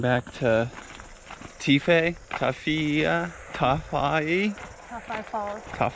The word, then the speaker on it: Tawhai: to teef a toughy tough IE top 5 Falls it's spelled with a wh in the middle but I guess they say that is an F sound here yeah so